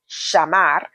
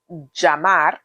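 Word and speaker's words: llamar: Whenever this happens, the double L's can be pronounced in three main ways. There's the sh pronunciation, so shamar. There's the J pronunciation, Jamar. And there's the Y pronunciation, Yamar.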